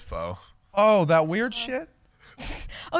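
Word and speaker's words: phở: It's she mispronounced Vietnamese pho. soup. It's pho.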